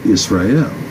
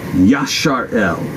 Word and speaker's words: Israel: evil under god right israel the man of evil under god as compared to what we believe is the true pronunciation the upright in god yashar el right upright in hell